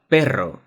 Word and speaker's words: perro: And this is probably the most complicated sound in Spanish, the double R, r, r. To pronounce it correctly, just try to hold the sound r, r, r, that we have seen before.